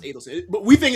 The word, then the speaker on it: Adelson: It's pronounced Adelson. But we think it's Adelson because we've seen Rick Adelson. It's spelled the same way. But it's Adelson, actually.